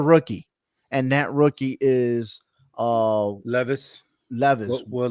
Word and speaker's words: Levis: and that rookie is Levis, Levis, Will Levis, Levi yeah, Levis, right? yeah, I'm hoping I'm saying his name no, right. yeah, yeah. It's Uh, Levis, it's not Levi's, it's it- Levis. it's Levis.